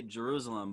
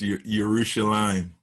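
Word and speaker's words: Yerushalayim: pronounced right yeah it's your urushi line okay so you played in your rooster lime as i say yeah normally it's pronouncing a j with like a y like that's the pronunciation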